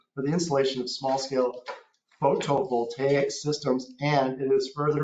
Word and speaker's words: photovoltaic: the streamlining of the application process for small-scale photovoltaic, someone pronounce that for me.